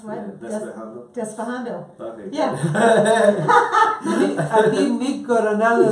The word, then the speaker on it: Despejando: How would I pronounce what? Yeah, Despejando. Despejando.